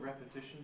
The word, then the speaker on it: repetition: more to repeat but repetition the noun notice the rhythmic principle forces the first syllable of repetition to be strong and in these cases